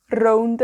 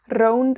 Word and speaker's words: rownd: Now you might have noticed that rownd has a r, right? So we roll our r's in Welsh. If you can roll your r's, da iawn, great, you know, use them. But if you can't, don't worry. A lot of Welsh people can't roll their r's either.